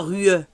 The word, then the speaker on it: rue: Le E, on ne le prononce pas. On ne dit pas rue. Rue.